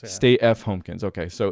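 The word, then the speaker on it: Stay F. Homekins: Stay F Homekins. Yeah. Stay F Homekins.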